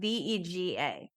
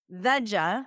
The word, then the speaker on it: Vega: There's a like a green protein company and it's spelled ve ga. That can be pronounced vea like vegetarian. Okay. Vega like vegan or Vega like the car from the 70s.